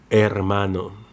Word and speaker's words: hermano: There's no English or Arabic equivalent because it is not pronounced, like in hola, hola. Hermano, hermano.